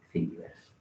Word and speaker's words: Thingiverse: Entonces, para que os suene, hay un repositorio fabuloso que se llama Thingiverse. Se escribe Thingy, como de thing, de cosa en inglés, verse, como de universo, ¿no?